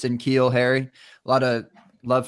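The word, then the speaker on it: N'Keal: of love for uh I'm gonna pronounce this name wrong K Neil Neil Harry q what is it in keel in keel I switched the end anything in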